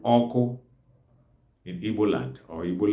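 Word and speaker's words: ọkụ: The fire itself is called oko in Igbo land or Igbo language.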